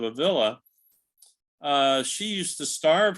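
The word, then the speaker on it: Ávila: believe you pronounced yeah if it were two L's you could say a via but it's one of so Saint Teresa of a villa uh she used to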